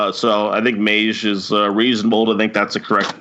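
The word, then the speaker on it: Meij: is Harold Mays now this is a Dutch last name so we're not sure if I'm pronouncing this correctly but it's spelled Mei J so I think mage is reasonable to think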